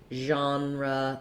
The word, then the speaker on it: genre: think of the sound it's also very rarely at the start of words for example in genre that's a sound it comes from the french so we only have